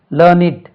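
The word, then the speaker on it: learned: லேர்ன் லேர்ன்ட் லேர்ன்ட் இருக்கு இதே அட்ஜெக்டிவா வந்தா உச்சரிப்பு இப்போ லேர்ன் இட் ஹி isஸ் எ லேர்னி இட் man adjective அது லேர்னிங் இட் என்று உச்சரிக்கணும் லேர்ன்ட்ன்னு உச்சரிக்க கூடாது லேர்ன் இட் லேர்ன் இட்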